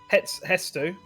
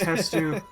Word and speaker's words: Hestu: Yeah, I don't know if it's spelled it's- Hetsu or Hetsu. Hetsu. No. I'm getting mixed messages by Google. It is Hestu.